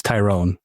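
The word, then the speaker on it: Thayron: And so we found out, by the way, it's a Tyrone, not it's not Tyrron, it's Tyrone.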